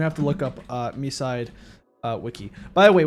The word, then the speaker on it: MiSide: I'm gonna have to look up uh Misside uh Wiki. By the way, we we found confirmation from the English dub that the game is pronounced Misside because one of the meetas say Misside.